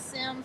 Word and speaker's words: Sims: spelled sims l-o-n-e-t-t-e last name is sims like the video game s-i-m-s thank you um